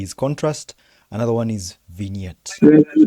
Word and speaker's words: vignette: Let me tell you how you pronounce it. You pronounce it as vignette.